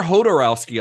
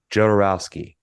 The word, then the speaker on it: Jodorowsky: Ukrainian yeah so it's it's a Spanish pronunciation of a Russian name yeah yeah yeah if